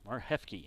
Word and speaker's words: Marhefke: Mar Hefke is how you say his last name.